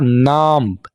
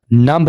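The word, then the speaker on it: numb: मेरे पैर सुन हो रहे हैं, my feet are नम्ब, नम्ब नहीं बोलेंगे, नम, बी को साइलेंट रखेंगे, माई फीट आर नम्ब।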